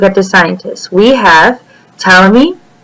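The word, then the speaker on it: Ptolemy: the scientists we have tmy the p is silent cernus and Kepler each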